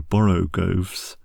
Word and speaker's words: borogoves: to rhyme with groves again the first Oh in borogoves is pronounced like the O in Baro I have heard people try to give it the sound of the O in worry such is human perversity this also seems a